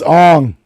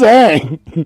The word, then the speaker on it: Aang: It's Ong. Yeah, you're saying it wrong. Who's Aang?